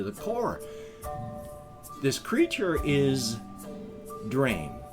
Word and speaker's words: Dreym: This creature is Dreym. D-R-E-Y-M is effectively how we would spell it with the pronunciation.